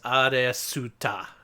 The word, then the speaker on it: Aleste: Okay, so you heard of this series called Alsta. It's spelled A L E S T E. Uh, in Kadakana, that is Aduta. So, that's how you pronounce it.